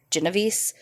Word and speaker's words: Genovese: went by Kitty and I've heard her name pronounced a few different ways but it seems to be the consensus is Genovese but we're gonna call